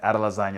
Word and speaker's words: Adesanya: Yeah, Adesanya, that's perfect.